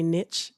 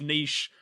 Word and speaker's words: niche: episodes didn't realize that Americans say niche. I think that really grinds my gears. I think he verbally said eel. Okay. I'm sorry if you have American listeners, but that's not okay. It's niche.